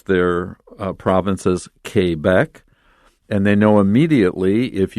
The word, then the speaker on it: Quebec: province in canada it's french speaking and they pronounce their uh provinces quebec and they know immediately if you don't know french because most of us english speakers will say quebec and they immediately know that you're not from